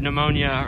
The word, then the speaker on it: pneumonia: That dreaded silent P word, pneumonia, earlier.